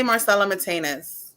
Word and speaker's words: Marcela Mitaynes: what's the how's your preferred way i say marcelo matinus but i hear highness i hear and and